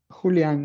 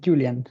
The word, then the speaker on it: Julian: Julian is in Spanish, but I translate it to English with Julian.